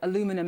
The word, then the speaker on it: aluminium: to the steel and aluminium or aluminum as you Americans say.